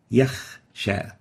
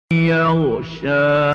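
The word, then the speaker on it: يخشى: The third mistake is exchanging the ghain with the kha. Example, yakhsha. We have a ghain here, and instead of pronouncing yaghsha, we pronounced yakh, yakhsha. This is wrong. The right way of pronouncing it is yaghsha. Yaghsha. So we shouldn't replace the ghain with a kha.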